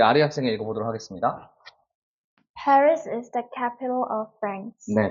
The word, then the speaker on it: Paris: 저거 파리라고 읽어야 되나 근데 여러분 파리라고 읽는 거는 사실은 불어에 가깝게 읽는 거고요 영어식으로 읽으려면 스라고 해가 되는 거예요 par 전부 다 사운드가 나는 거죠 사운드가 나는 거 자